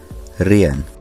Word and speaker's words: reën: hoor, reën, Notice that the second vowel requires a diacritic so that we know to pronounce these as two separate vowels and not as one diphthong.